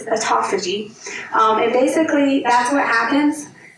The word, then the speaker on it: autophagy: I always want to pronounce it Autophagy, but it's Autophagy.